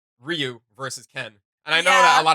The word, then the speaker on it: Ryu: see is um like Ryu versus Ken. And I know that a yeah. lot of people say it Ryu, but his name is actually pronounced Ryu.